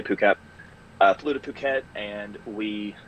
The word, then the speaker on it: Phuket: Some people pronounce it Phuket, but we say Phuket.